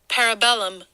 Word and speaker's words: Parabellum: Parabellum. Parabellum. Thank you, Siri. Well, I like to say Google. parabolum. I like to say parabellum.